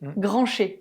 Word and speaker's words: Grancher: et puis au fil granch Grancher granché pardon autant bien prononcé tu vois non parce